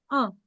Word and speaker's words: un: They write it as UN, but they pronounce it as un.